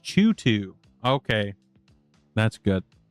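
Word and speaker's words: CHOOH2: Okay, pronounced Chutu.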